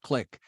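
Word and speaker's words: Qlik: vice president federal sales at a company called click q-l-i-k most people have heard of it but I have to spell it out so they can go to the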